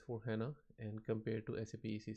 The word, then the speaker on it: SAP: co-financed and controlling so the proper way of pronouncing the name of sa p is sa p is not accept if you say sap is notice and appropriate labid says as ap is much more more accepted and more being used